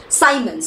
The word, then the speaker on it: Siemens: to measure it in Siemens okay Simons Siemens whatever you want to say Simons okay s-i-e-m-e-n-sc Simons capital S basically okay all right